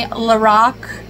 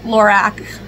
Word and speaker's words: Lorac: It is apparently Lorac, not Lorac.